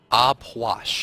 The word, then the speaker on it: Puch: Aupois? Puch. Puch. It's P-W-A-S-H is how you say it.